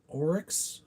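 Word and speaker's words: Oryx: Um and Orics I think is how you say it. It's O R YX.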